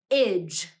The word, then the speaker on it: -age: could be but but when we read the suffix AG g e it is usually pronounced this way IG say that with me